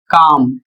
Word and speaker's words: calm: उदाहरण के माध्यम से देखिए जैसे लिखा है सी ए एल एम और इसका प्रोनाउंसिएशन काम और इसकी हिंदी होती है शांत।